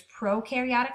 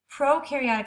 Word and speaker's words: prokaryotic: types of cells there's prokaryotic cells and eukaryotic cells prokaryotic cells Pro rhymes with no that means there's no